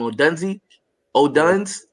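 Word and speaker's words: Odunze: O'Duns.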